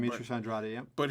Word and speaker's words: Andrade: Like, you got Andrade, I believe that's how you pronounce his name. Demetrius Andrade, yeah.